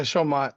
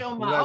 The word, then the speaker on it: Showmat: So I want you to meet Showmat. Did I pronounce that right? Yeah, Showmat. Close enough. Showmat. Okay.